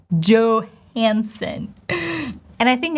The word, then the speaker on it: Johansson: last name would be Johansson, right? O diphthong in the last name. O enthon. Johansson. You probably thought, what did she say? I just withdrew the consonant sounds, right? Johansson.